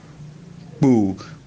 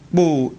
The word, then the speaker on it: Boo: Here the first O has a rising stress mark from left to right, and then a level stress mark on the second O. Boo. Boo means a group of people, a mob.